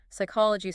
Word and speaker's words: psychology: Psychology starts with p s, the p goes quiet.